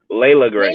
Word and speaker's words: Layla: Layla Gray. Layla Gray. Layla, say it with me. Layla. It's coming.